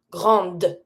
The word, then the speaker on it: grande: If it's feminine, I'm always going to pronounce the consonant that is before my E at the end, but I'm never going to pronounce my E at the end of a word that has no accent.